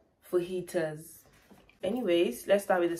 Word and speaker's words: fajitas: we have fajitas it's spelt f-a-g-j-i-t-a-s but the pronunciation here is full heaters for heaters anyways let's start with the second which is